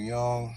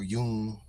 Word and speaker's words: Jung: I'm saying crumbling herb here let see Carl Young Carl Yun his name is Carl Gustaf Yun he's a